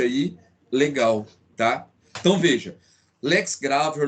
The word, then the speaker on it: lex gravior: Isso, pessoal, em latim a pronúncia é essa. Então lex gravior. Essa é a pronúncia correta. E o novácio, a gente soletra, né? Novatio legis impeius, como alguns falam, mas